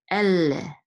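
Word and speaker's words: אֵלֶּה: And the degesh here actually means to hold the lamed sound a little bit, elle, okay? Instead of elle, it's elle. But, you know, a lot of people don't pronounce this anymore, so if you don't say it. If you just say ele, it's okay too. But ele would be a little bit closer.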